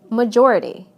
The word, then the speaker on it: majority: However, the following suffixes do change word stress. Listen to how the stress moves right to the syllable immediately before the suffix. Adding "this" to major, it becomes majority.